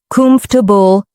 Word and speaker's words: comfortable: If you mispronounce comfortable as four syllables, laugh it off and try again with three. Comfortable.